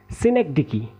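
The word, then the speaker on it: synecdoche: सबसे पहले हमने इसके स्टार्टिंग के पांच लेटर को लेना है। फिर हमने इस डी को लेना है। फिर उसके बाद लास्ट के चार को लेना है। अब हमने इसमें क्या करना है? इस ओ को साइलेंट समझते हुए आगे बढ़ना है। जब हमने इन पांच को प्रोनाउंस किया तो क्या आया? सिनेक। देन हमारे पास ड का साउंड आया।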